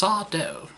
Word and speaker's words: Sardo: He says, it's just sawdough. No, mister, accent on the sawdough. On the dough.